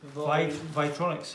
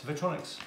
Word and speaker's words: Vytronix: How do you pronounce that? Vytronix. Vytronix.